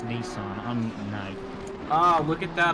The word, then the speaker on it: Nissan: Oh, now I'm being told in my DMs that it's Nissan. No. Ah, look at that. I'm right. Huh. It's almost like proper pronunciation.